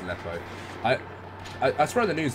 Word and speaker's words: Aleppo: Aleppo, it is pronounced Aleppo. I swear on the news they always pronounce it Apelio, I'm not sure why, but that's actually being screwed, like, right now, isn't it?